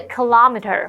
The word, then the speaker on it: kilometer: Hello，大家好，我是 Hanny。这2天的课程中，我们要跟着作者来一趟小琉球2日游。小琉球位于屏东县外海大约14公里处，可能是台湾最容易到访的离岛了。那么作者就提到，这正是他和他太太去年夏天在高雄短暂休假时所做的事。他们在东港渡轮码头搭船，25分钟后就踏上了小琉球。那抵达之后，他们就有租摩托车办理饭店入住。而在开始探索这个岛之前，他们先去白沙湾港买零食和饮料，那边是小琉球的主要人口中心。这时候 Sam 老师他用到 populated 这个形容词 P-O-P-U-L-A-T-E-D populated 可以形容是有人居住的。再看到单字 kilometer 或是念作 kilometer kilometer，它表示公里。这个字首 KILO，它表示千，一千的那个意思。再看到 explore 这个动词，它有探索或是探险的意思。这边2个重点，我们进入文法时间。我们来看第一个重点是 this is